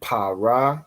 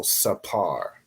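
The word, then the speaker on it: ספר: So instead of saying para, you would say par, right? So sapar.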